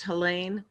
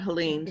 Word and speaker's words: Helain: thinking me I just my name is pronounced helain um not Helen so I just thought thank